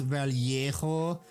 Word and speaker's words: Vallejo: You could be like the pretentious fucks that have been in my stream before and said, they're from Spain, it's pronounced Vallejo, and it's like, bitch, they started in Jersey.